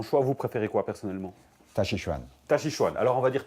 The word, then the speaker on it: Taijiquan: On parle de la même chose, c'est simplement le chinois qui est employé, moderne ou ancien, et la prononciation, l'écriture est différente. Voilà, on fait son choix. Vous préférez quoi personnellement? Tachichuan.